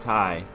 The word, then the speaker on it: Thai: you say that Taiwanese Thais Thailand ish hmm I don't know I don't think I've ever heard it he's Thai I believe it's just tie and then acontece these